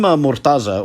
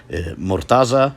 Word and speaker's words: Mortaza: Now, you may have noticed that the pronunciation and transliteration previously had a Z phoneme, while now it has a D phoneme, Mortaza, Murtaḍa.